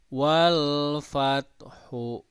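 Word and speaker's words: وَالْفَتْحُ: Nah, cara mewakafkan kalau bacaan seperti ini, cara mewakafkannya ketika kita membaca kata fat itu ditekan cara pengucapannya fat sampai muncul bunyi ha tapi sedikit gitu. Jadi bacanya begini. Wal fat ada gitu ya, ada bunyi hak sedikit.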